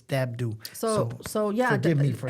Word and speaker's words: Dabdoub: And I've known her a long time, and I just found out that the B is not pronounced in Dabdoub. And I always call her Martha Dabdoub. It's Dabdoub.